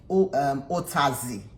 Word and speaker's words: Utazi: And then this is called Otazi leaf. Otazi is spelled Utazi, because they have Okazi as well.